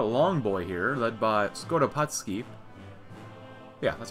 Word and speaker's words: Skoropadsky: We have the Kingdom of the Ukraine, kind of a long boy here, led by Skoropadsky.